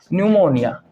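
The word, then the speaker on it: pneumonia: है न्यूमोनिया न्यूमोनिया बेटा न्यूमोनिया को लिखा जाता है पी से लेकिन प्रोनाउंस किया जाता है एन से न्यूमोनिया न्यूमोनिया यह भी बेटा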